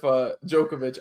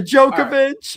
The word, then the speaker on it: Djokovic: So I'm going with Djokovic. I was literally not going to pronounce his name like that, so thank God you said it first, Johnny. No, are you kidding? Well, it had a D in front of it.